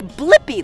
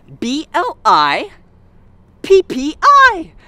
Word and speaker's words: Blippi: name do you know my name yeah it's blippi let's spell it together ready b-l-i p-p-i blippi good job all right see you again